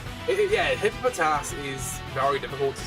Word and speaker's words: Hippopotas: You always uh add an extra po into hippopotas. Hippopotas. You say like hippopotas like empistic hippo.